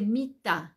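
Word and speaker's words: מיטה: Cómo se dice cama se dice mit m i t a cómo se va a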